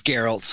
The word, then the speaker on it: Geralt: Is it Geralt? It's Geralt. That's weird. It is weird. I just remember how to say it because I would call him Gare Bear, and that's how I remembered it. See, I've never played the game, so I don't know. It's a hard G.